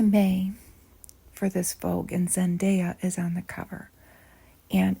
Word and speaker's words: Zendaya: I think I often call her Zendaya, but I think the technical pronunciation is Zendaya.